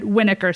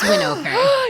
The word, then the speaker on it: Winokur: you as marissa jarrett winiker so please set the record straight please tell us marissa how is your last name pronounced marissa jarrett winoker it's winokur yes theater peter people